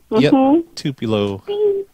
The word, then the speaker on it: Tupelo: and yup here in Tupelo that's how you pronounce it Tupelo so like it's $500 is that just for